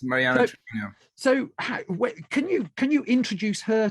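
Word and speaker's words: Mariana Treviño: I think you pronounce it Mariana Trevino. Is that correct? Yes, Mariana Trevino.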